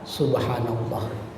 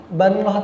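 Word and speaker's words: سبحان الله: Soalnya bacanya beda. Subhanallah lawan banallah tadi.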